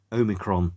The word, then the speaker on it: Omikron: soundtrack to a computer game called, let me pronounce it correctly, Omikron, the Nomad Soul.